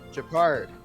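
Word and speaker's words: Gepard: link was probably uh Japard Japard. Yeah, Japard. That's how you say it.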